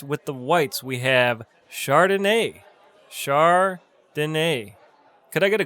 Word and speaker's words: Chardonnay: So at the top of the list with the whites, we have Chardonnay.